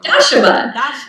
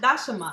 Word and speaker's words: Dashama: I want to pronounce it properly. I can't. Dashama. Dashama.